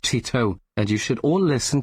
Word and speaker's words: Teto: It's pronounced Tito, and you should all listen to Kasane Teto's Tetris, but the lyrics are the complete history of the Soviet Union.